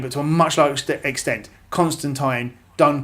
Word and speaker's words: Constantine: should be it's called Constantine although technically apparently it's supposed to be constant time because that's the British Way of pronouncing it anyway that's that's that's